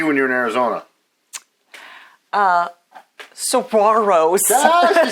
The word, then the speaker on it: saguaro: Saguaros.